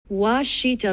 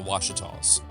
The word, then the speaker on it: Ouachita: I Googled the pronunciation, and this is what Google gave me. Ouachita Mountains.